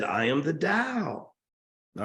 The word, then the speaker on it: Tao: He could have said, I am the Tao. All right? Pronounced T-A-O, but it's pronounced, D-A-O, spelled T-A-O, Dao, Dao.